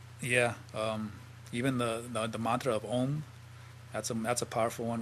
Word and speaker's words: Om: It should be pronounced Ong, O-N-G. And when you pronounce it like that, the tip of your tongue goes to the top of your mouth when you do that NG sound, that Ong.